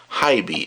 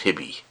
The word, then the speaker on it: HiBy: Now all the amplifiers in these device these and oh by the way that by pronounces Hib not hibby hib R4.